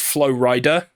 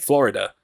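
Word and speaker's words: Flo Rida: I told him that it's pronounced Flow Rider, and he is a rapper / musician. I made sure he knew that, so that, because some people read it written down, they think Florida.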